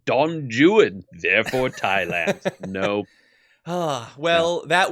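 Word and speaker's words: Don Juan: mistake and fixed it actually in Shakespeare Dawn Juan is pronounced Don Jan therefore Thailand nope well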